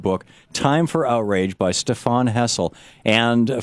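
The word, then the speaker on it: Stéphane Hessel: And we're talking with Stephane Hessel. Am I pronouncing everything right here, sir? Yes. Okay. Stephane Hessel, his book is Time for Outrage from 12 publishers, and it's in bookstores now.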